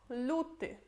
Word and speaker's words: luty: Depois temos luty.